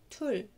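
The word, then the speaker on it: 둘: رقم اتنين tul tul tul tul، عبارة عن consonant vowel consonant tul tul. واتفقنا ان حرف الرا لما بيجي في الباتيم بينطق لا، يعني كأنه لام، فاسمها تول، يبقى هنا تول.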